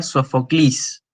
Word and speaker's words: Sófocles: Y esa es la razón por la cual nosotros pronunciamos Sófocles en vez de decir Sófocles, como dicen los griegos, ¿sí? Y hoy en día el griego moderno sería Sofoclis.